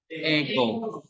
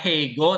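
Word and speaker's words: ἐγώ: Ego. Ego itu artinya apa? Aku, saya, ya, I. Kok nggak ada hanya? Kok nggak ada hanya? Kenapa? Nggak ada hego, tapi ego.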